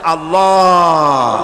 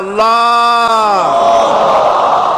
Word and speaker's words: আল্লাহ: আল্লাহ পাকের উচ্চারণটা হচ্ছে, আল্লাহ পাকের নাম উচ্চারণ হচ্ছে আল্লাহ। মুখটা একটু গোল হয়ে যাবে, বলেন আল্লাহ আল্লাহ আল্লাহ।